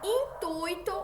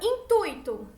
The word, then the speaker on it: intuito: É com este intuito.